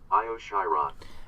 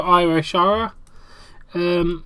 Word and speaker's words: Io Shirai: Let me get that up on a translator so you can actually hear the name pronounced, not botched. Io Shirai. There you go, Io Shirai.